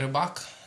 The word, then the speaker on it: Rybak: KS: Nein AR: Eigentlich wird es „Rybak" ausgesprochen und bedeutet „Fischer", also den Beruf.